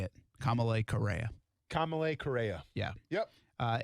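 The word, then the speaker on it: Kamalei Correa: us kamalay correa that's how you say it kamalay correa kamalay correa yeah yep uh and isn't is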